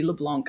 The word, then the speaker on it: LeBlanc: Uh, I assumed it was like Matt Leblanc and that's what I was channeling when I was saying your name.